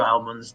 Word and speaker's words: almond: whites two regulars both both of you are using incorrect British English pronunciation it's almond Al like like an like a l m o n d almond almond but also none of